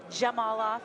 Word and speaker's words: Zhamalov: Zhamalov on that two-on-one. Blue action. Just for the crowd, it's a Z, but it's pronounced with a J. Zhamalov.